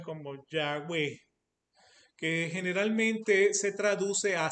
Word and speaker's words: Yahweh: O sea, como no tiene vocales, pues, o sea, los judíos la pronuncian como Yahweh, que generalmente se traduce a Señor.